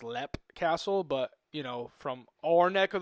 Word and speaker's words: Leap Castle: And we're going to dig more into this as we dig into our topic of, it's spelled L-E-A-P, Leap Castle, but I guess it's pronounced Lep Castle, but, from our neck of the woods, we say Leap.